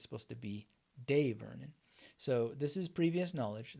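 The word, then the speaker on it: Dai Vernon: the professor and some people say that it's pronounced die Vernon and most people use Die Vernon but apparently it's supposed to be de Vernon so this is previous knowledge that I can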